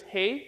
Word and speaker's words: real: See, in Portuguese, the way that you say is. So, let me teach you how to say it. Um, so on the count of three, let's say he. So it's hey but without the e sound.